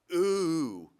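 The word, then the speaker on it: OOO: philosopher, uh big thinker, he has this concept called ooh, that's how you say it. Uh it stands for object-oriented ontology.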